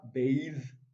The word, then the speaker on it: bathe: we have b b when you see t h e at the end it gives you the voiced version which is the and not the so we have bathe this is the voice version so it's wrong but